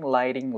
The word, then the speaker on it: lighting: 사운드가 굴려줄 가능성이 생겨요 그러니까 라이팅이 아니고 라이팅 라이딩 라이팅 사운드가 만들어 지는 거예요 lighting lighting 자